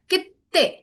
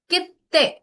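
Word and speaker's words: きって: पहले चू लगा होगा, तो उसके बाद वाले लेटर की डबल साउंड होती है हमेशा, ठीक है। सो दिस इज ते, तो ते की डबल साउंड आएगी लाइक कित्ते, कित्ते। ओके, थोड़ा सा लॉन्ग स्ट्रेच हो जाएगा वो, लॉन्ग, कित्ते।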